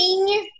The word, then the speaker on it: Inye: Jadi aku tuh suka memanggil diri aku Inyong tapi NG-nya dihilangin dengan pronunciation tertentu. Jadi cara manggilnya tuh ini punya Inye. Itu tuh kayak Inyong tapi jadi Inye.